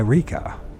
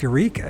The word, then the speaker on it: Eureka: want to call it wika is it wika or Eureka California I think it's Eureka isn't it I thought we everybody calls it Eureka they want to call